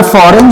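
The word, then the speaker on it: foreign: यहां पे फॉरेन जो है इसमें आप देख सकते हैं, इसमें आपके पास जो जी होता है, ये जी वर्ड जो है यहां पे साइलेंट होता है, ठीक है, इसलिए वर्ड फॉरेन एजेंट बन जाता है।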